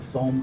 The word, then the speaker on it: Fome: tracheostomy tube with the foam cuff first of all you notice up here it's spelled f-o-m-e that is the way it's spelled although it is foam the foam cuff is